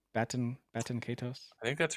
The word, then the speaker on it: Baten Kaitos: Baten Kaitos. Baten Kaitos.